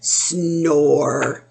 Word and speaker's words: snore: butter and salted and snore sn or and look at silent e at the end we don't hear it so that is our